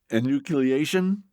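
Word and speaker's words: enucleation: Natalya, you've got something that involves the word, am I pronouncing it right? Inucleation.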